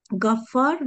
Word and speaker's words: Gaffar: Gafir, Gaffar ve Gafur isimleri. Tabi bunlar gayın harfiyle ama Türkçe'de biz onu G ile telaffuz ediyoruz.